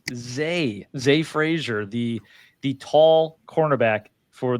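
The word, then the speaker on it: Zah Frazier: It is pronounced Z Frasier.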